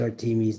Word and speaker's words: Artemis: Artemis, pronounced Artemis, Diana to the Romans, is the Greek goddess of the wilderness, nature, childbirth, and the moon.